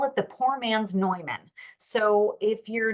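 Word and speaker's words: Neumann: it the POR man's noyman so if you're not aware but the the the brand of noyman microphones it looks like Newman but it's pronounced noyman uh that that brand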